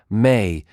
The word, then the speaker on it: ME: The Sumerians also possessed a concept they called the Me, pronounced May, divine codes that governed every aspect of civilized existence.